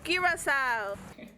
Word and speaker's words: Curaçao: And the world famous liquor is Curaçao. Non, Ça la dit prononciation.